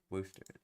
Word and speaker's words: Worcester: Worooster. Worster. Apparently that's how you say it.